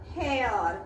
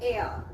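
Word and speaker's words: heir: verbal sound then h-e-i-r we do not say hair this air okay so here the sound is a which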